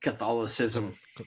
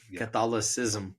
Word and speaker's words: Catholicism: cathol catholism how do you say it cathol Catholicism Catholicism Catholicism yeah the the Catholic church and then